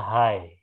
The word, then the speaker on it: high: Ini dibaca high. High. High. Huruf G sama H-nya nggak dibaca.